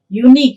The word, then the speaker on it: unique: And when you are pronouncing this unique, even you get a consonant ya sound.